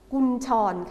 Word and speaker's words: กุญชร: คำ ว่า อะไร ครับ คำ นี้ อ่าน ว่า อ่า กุญชร คุณ ชอน อา ทำ นี่ อ่าน ว่า